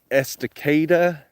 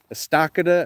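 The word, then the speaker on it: Estacada: I'm really grateful to live out here in Esticada, Estakada as some people uh don't know how to pronounce it, but it's just Esticada.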